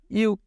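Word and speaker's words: 육: তো গিয়কের শেষ অক্ষর কি? গিয়কের শেষ অক্ষর ক। এটার উচ্চারণ কি হবে? ইউক, ইউক।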